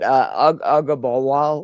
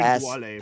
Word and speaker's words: Ogunbowale: like early late split with I can't even pronounce the dude's name. What is it? Ugabawal or however you say it. The backup he was at. Ogunbowale. Yeah, he was in for all Dario the Ogunbowale.